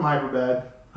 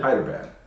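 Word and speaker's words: Hyderabad: Your coworker from Hyperbad, but that's not how you say it. You said it. Hyderbad.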